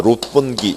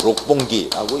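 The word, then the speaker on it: 六本木: 그러니까 그러니까 요즘에는 일본에 뭐 여행 갈 때 그러니까 일본 도쿄 여행 중에 그러니까 롯본기 1이라고요. 뭐 록본기라고 읽을 수도 있고요.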